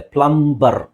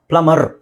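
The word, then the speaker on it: plumber: refer ಮಾಡಿ next ನೋಡಿ ಇದು ಪ್ಲಂಬರ್ ಅಂತ ನಮಗೆ ಅನ್ಸುತ್ತೆ ಪ್ಲಂಬರ್ ಸೋ ಇಲ್ಲಿ ನಾವುಬಿಎ ಮತ್ತೆಬಿ ಬಂದಾಗ ಆಕ್ಚುಲಿ ಎ ಮತ್ತೆ ಬಿ ಕೊನೆ ಮನೆಯಲ್ಲಿ ಬಂದಾಗ ಬಿ ಸೈಲೆಂಟ್ ಆಗುತ್ತೆ ಪ್ಲಮ್ ಅಂತ ಹೇಳ್ತೀವಿ ಅಷ್ಟೇ ಪ್ಲಮ ಪ್ಲಮರ್ ಇಲ್ಲಿ ನೀವು ಅರ್ ಅಂತನಾದ್ರೂ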